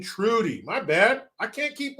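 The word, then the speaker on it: Trudeau: sister Shirley says Jericho you're pronouncing his name wrong it's Justine Trudy my bad I can't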